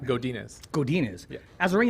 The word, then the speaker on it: Godinez: Did I say it right? You said it right. I said it right. Godinez.